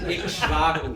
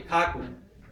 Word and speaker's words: Ikshvaku: Ikshvaku. Prabhupada used to say Ikhaku. Ikshvaku, because that's really Kashava, triple combination. So you just double the ka and drop the other syllables.